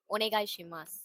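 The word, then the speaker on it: お願いします: ஒனேகாய் ஷிமாஸ்.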